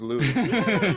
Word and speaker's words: Louis Armstrong: good point yeah because he did pronounce his own name lewis that's definitely true i mean i guess they leaned into the the record he put out in 1933 which was laughing louie maybe that that was it and i think that's that's the theory about where it came from um that it became louis armstrong but i i don't